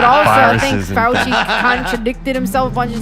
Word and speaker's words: Fauci: Fauci. Fauci. Fauci. Like if you're saying, ouchie, come help me, Dr. Fauci.